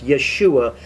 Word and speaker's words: Yeshua: in fact that that's his name but it's yeshua is the proper way to pronounce jesus's name in hebrew and yahshua doesn't